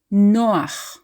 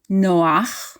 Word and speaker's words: Noah: Hebrew names the name Noah in Hebrew is pronounced Noah no to pronounce it like a native Hebrew speaker we stress the second from last syllable Noah it's not Noah stressing the last syllable